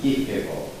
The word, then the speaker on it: Kierkegaard: Kierkegaard, nós dizemos às vezes, parece que os dinamarqueses pronunciam Kierkegaard.